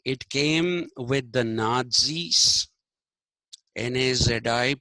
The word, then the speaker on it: Nazi: century phenomenon okay it came with the nais N A zi pronounced Nazi n a t z i you have